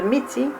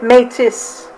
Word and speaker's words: Métis: ont commencé comme métier fair use à la prononciation de miti comme été mais c est souvent considéré comme la bonne façon française de redire mais les français se prononcent en fait métis ce n'est pas le seul forme qui est